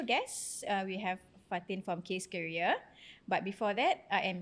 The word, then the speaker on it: Keria: Jangan salah pronounce bukan KS. Keria is Keria.